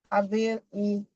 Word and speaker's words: ability: So this has four syllables. So I said third to the last. So ability.